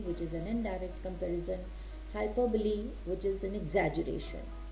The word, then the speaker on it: hyperbole: a figure of speech hyperbole. You see the spellings h y p e r b o l e. It's not pronounced as hyperbol. It is hyperbole.